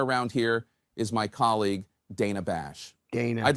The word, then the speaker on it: Dana: and by the way it's Dana Bash they call her Dana nothing it matters you would think somebody would have heard her say Dana that's the way she pronounces it I don't know why